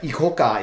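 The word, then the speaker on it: ICOCA: is but eoka it's it's spelled IA but ikoka in Japanese means shall we go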